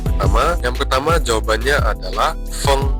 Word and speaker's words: feng: Yang pertama jawabannya adalah feng. Jadi F tetap sebagai F ditambah dengan kata di belakangnya F tambah ENG. Jadi feng yang artinya angin.